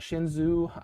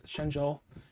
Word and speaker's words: Shenzhou: like the yeah shenzhou i used to call it shinzo but it's shenzhou and uh yeah and